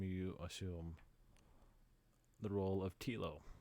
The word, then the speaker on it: Tilo: If you've read those books, in this game you assume the role of Tilo. I think it's Tilo. It could be Tylo. It's spelled like Milo, so I assume it's pronounced like Milo.